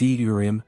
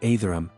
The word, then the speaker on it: Ethereum: By the way, it's Etherum, not Aetherum.